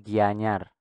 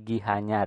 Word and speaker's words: Gianyar: Nah, ini kan dibacanya itu Gianyar, Gianyar, tidak Gianyar, apalagi Gihanyar ya, dibacanya Gianyar. Nah, di dalam aksara Bali itu ada yang namanya istilah pengangge arde suara.